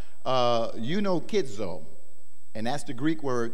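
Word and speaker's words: εὐνουχίζω: And there's a Greek word that signifies this, and it's pronounced eunokizo.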